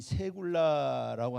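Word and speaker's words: סגולה: 자, 원어로는 세굴라라고 합니다. 세굴라. 자, 이 세굴라라고 하는 단어는 세굴라라고 읽죠. 세굴라.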